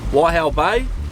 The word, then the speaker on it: Waihau Bay: Waihau Bay.